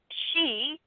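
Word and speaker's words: sidhe: che you're going to hear a shape Dana she you know these are different ways coming from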